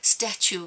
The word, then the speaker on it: statue: with the fact that statue rhymes with Matthew we like the lyricism